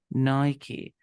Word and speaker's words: Nike: So the name is Nike. But some people say Nike, but the real pronunciation is Nike. If you call to the company and you ask the real pronunciation, they will say that they say Nike. But some people misunderstood pronunciation and they say Nike too. So Nike and Nike both are acceptable, but you know that Nike is a real pronunciation.